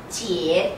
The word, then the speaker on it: 姐: 姐, the third tone.